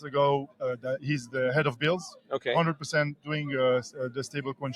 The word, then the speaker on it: BILS: I like to say the B is silent, so it's BILS.